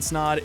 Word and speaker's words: Snod: My name is Snod. It Rhymes with Odd, and you're listening or watching the Rhymes with Odd podcast.